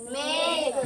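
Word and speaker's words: make: हो जाएगा में और के से बन जाएगा क और इस इ का कोई प्रोनाउंस नहीं करना है। ठीक है? सर तो क्या पढ़ा जाएगा इसे? मेक मेक क्या पढ़ा जाएगा?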